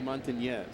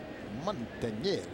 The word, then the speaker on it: Montañez: I'd like you to pronounce that little Enye. It's Willie Montañez. Montañez.